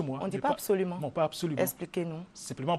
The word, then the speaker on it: absolument: Il y a une règle qui dit que tous les mots commençant par ABS, n'est-ce pas, se prononcent abs. Abs. Absolument.